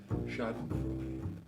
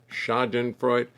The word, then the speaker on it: Schadenfreude: 4 syllables. 4 syllables. Schadenfreude, Schadenfreude. No, it's 3.